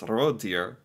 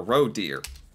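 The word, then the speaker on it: rådyr: a row deer um the Norwegian and the English sound almost the same it's Ro deer or Ro deer wow so the word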